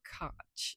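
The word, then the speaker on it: Koch: I always want to say Cooper Okay, it's not that. Cooper Cotch.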